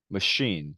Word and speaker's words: machine: 반면에 chef, machine 같은 경우에는 네, 쉬 발음이 나고요.